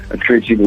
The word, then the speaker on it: Curitiba: Curitiba.